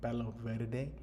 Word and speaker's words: Palo Verde: Palo Verde. That's the Spanish pronunciation, okay?